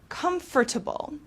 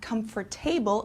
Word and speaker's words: comfortable: Next, we have comfortable. Okay, it's not comfortable, it's comfortable, which means providing physical ease and relaxation.